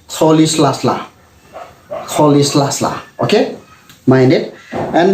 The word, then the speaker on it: Rolihlahla: Okay, so first of all, his middle name, Mandela's middle name, is not pronounced Rolihlahla. It's pronounced Rolihlahla.